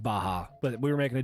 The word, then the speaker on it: Baja: have to go to moe's i know it's pronounced baja but we were making a joke about how people in the south especially say baja fresh because they also say like quesadilla even when